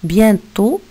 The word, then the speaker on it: bientôt: aussi qu'on va entourer bientôt bientôt il s'écrit avec un thé à la fin qui n'est pas prononcée alors en vain entouré